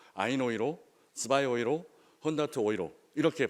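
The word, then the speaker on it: Euro: 때는 로라고 발음하지 않고 독일 사람들이 유로를 읽어내는 방식으로 아이이로 스바이 오이로 더트 오이로 이렇게 발음하고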